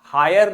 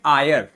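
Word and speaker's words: heir: एच सो रहा है H silent है एच को नहीं बोलेंगे हम बोलेंगे आयर क्या बोलेंगे बच्चों आयर बोलेंगे ध्यान दीजिएगा इसको हायर नहीं पढ़ते हैं इसको आयर पढ़ते हैं हायर कौन सा होता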